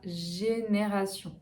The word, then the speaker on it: génération: En 9, un autre exemple, c'est la génération. Donc ici, attention, G plus E, ça fait G. Génération. TI, sion. Génération.